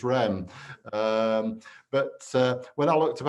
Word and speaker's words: Reims: When you go to Reims, it's Rem. But when I looked up how to pronounce Moe and Shandon, it said that it